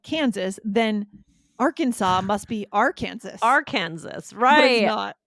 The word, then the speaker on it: Arkansas: The next one is Arkansas.